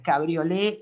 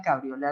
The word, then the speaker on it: cabriolet: con T, es decir, en francés no se pronuncia la T, pero es cabriolet la pata, cabriolet el respaldo.